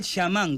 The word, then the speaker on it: chamán: En cambio, chamanismo suena, pero el tema es que si somos puristas, el chamán o el shamán, como deberíamos pronunciarlo correctamente, para empezar no es un término autóctono americano.